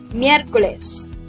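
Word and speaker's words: Miyerkoles: between m and y normally we just combine the sounds of m and y and make the sound miercoles additional information miraculous originated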